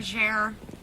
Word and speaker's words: Bergere: That is Jenica Bergere. Yeah. Did I pronounce that right? Bergere.